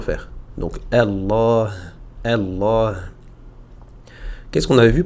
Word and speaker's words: Allah: Donc a a et on va le passer directement sur le lem muni d'une shaedda Allah. Allah. D'accord ? On n'oublie pas de prononcer le alif qui n'est pas visible, d'accord ?